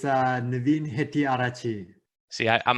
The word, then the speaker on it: Hettiarachchi: It's Navin Hettiarachchi.